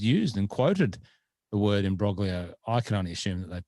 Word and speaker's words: imbroglio: there and you pronoun you tried to pronounce it with your best italian accent there in brolya or as i like to say in broglio um i believe the